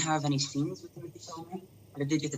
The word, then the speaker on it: Chalamet: Did I pronounce Chalamet?